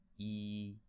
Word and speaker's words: 一: shape stand for itself is a flat tone very flat that means when we pronounce it we want we don't want our pitch or a volume to fluctuate keep it flat sounds like this we don't want this sound like oh no we want to sound like e yi yi that's it make it